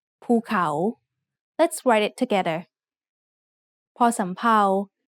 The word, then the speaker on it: ภูเขา: The second syllable has the initial consonant ขอไข่ with the vowel สระเอา The first syllable is mid-tone and the second syllable has a rising tone ภูเขา Let's write it together.